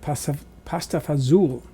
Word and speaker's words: pasta fazool: My grandparents on my mother's side were from Italy, and they pronounced it pasta fazool, as in that Dean Martin song, "When the stars make you drool, just like a pasta fazool, that's amore."